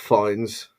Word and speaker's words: Fiennes: Obi-Wan is Ralph Fiennes. Is that how you have to pronounce his name? Isn't it Fiennes? Yeah, Fiennes.